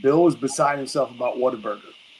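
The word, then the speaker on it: Whataburger: Plus, I know it's spelled Waterburger, but we all pronounce it waterburger.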